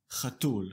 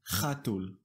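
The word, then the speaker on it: חתול: Notice that the stress is on the last syllable. Chatul, not chatul.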